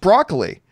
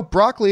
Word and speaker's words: Broccoli: bucoli is it Barbara Brock roughly it is pronounced broccoli the fact she had something to do with broccoli itself I actually always thought it was brocoli but there you go broccoli it is anyway Barbara broccoli weighed in on